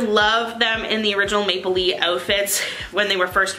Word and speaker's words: Maplelea: I keep on saying Maple Leah because everyone pronounces it wrong pronounces it Maple Leah it's Maple Lee just like Maple Leaf but without the F so Maple Lee is